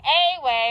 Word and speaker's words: away: It's a schwa or a thinking word. Good. Very good. We need to think a way, but we say a way.